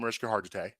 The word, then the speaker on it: Mariska Hargitay: First of all, I had a huge crush on Mariska Hargitay. That's #1. That's how you pronounce her name?